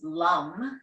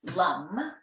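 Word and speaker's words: LAM: So that mantra is LUM, spelled L-A-M, but pronounced LUM.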